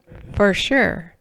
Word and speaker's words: Verschuur: He said, that's how you can remember how to say the name, Verschuur.